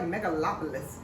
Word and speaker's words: Megalopolis: Megalopolis.